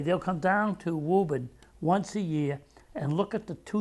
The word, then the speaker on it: Woburn: We don't pronounce the R's, do we? Woburn, Mass.